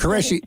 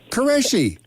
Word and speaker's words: Qureshi: yes I did say his name was mr. khureshi it's Qureshi is not close that is right that's right for goodness sake yeah now I can say it Qureshi nicely done well welcome